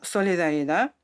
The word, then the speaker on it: Solidaridad: Le mot solidarida est un nom espagnol qui signifie solidarité parce que notre travail a débuté en Amérique latine d'ù la prononciation espagnole.